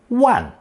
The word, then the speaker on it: 玩: If you recall, it also can be pronounced fourth tone, wan, as in 古玩, especially when referring to antiques or art objects.